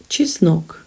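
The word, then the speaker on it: чеснок: gribby practice saying it chisnock this is garlic cheese milk cheese and nok she snoke the stress falls on the second syllable there are only two syllables in this word cheese no just knock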